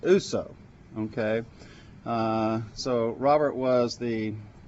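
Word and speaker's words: Ourso: Okay, I think it's spelled Orso, but I think it's pronounced Uso.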